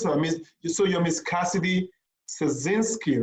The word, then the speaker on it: Szarnicki: No, I mean the S is silent. Yeah, so like Szarnicki. Szarnicki. Okay. So the S is silent, right? Yes, it is. Okay, so Cassidy Szarnicki.